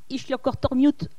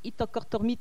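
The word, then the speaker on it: Ittoqqortoormiit: Alors là aussi, il faut prendre son élan pour le dire d'un seul coup. Itorkortormit. Itorkortormit. Ichlokortormiut. prononciation du sud, Itokortormit, prononciation de l'est.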